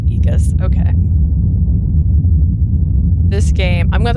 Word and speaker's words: Aegis: It just looked like that, but it's pronounced Aegis.